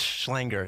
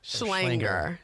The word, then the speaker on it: Schlenger: It's Schlenger. It rhymes with hanger. Schlenger.